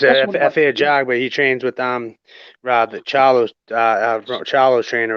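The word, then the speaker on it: Efe Ajagba: God, how do you say his name? F.A. Ajabwa. Yeah, him. Jaguar, yeah. It's F.A. Jaguar.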